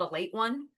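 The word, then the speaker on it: Ale-8-One: And it's spelled Ale 8. It's called a late one, but it's Ale-81.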